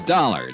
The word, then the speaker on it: Dollar: It's Dollar, Dollar. Dollar, huh? Yeah, rhymes with collar.